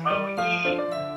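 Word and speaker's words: 萌え: Yeah, it's Mo pronounced Moe.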